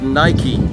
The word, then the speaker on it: Nike: And it's pronounced Nike.